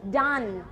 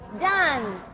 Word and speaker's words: done: e ออก เสียง ด จำ ไว้ ไม่ โดน ไม่ เด็น ไม่ เด่ง ไม่ โด่ง ไม่ เด่ง อะไร เนี่ย ดัน นะ คะ อ้า ต่อ ไป อ่าน